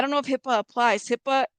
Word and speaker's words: HIPAA: don't know I don't know I don't know hippo wouldn't apply in Mexico I don't know if HIPAA applies HIPAA it's HIPAA not HIPAA the ones like listen